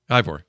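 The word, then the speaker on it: Eivor: Ivor. Mm-hmm. Yeah. Like Igor, but with a V.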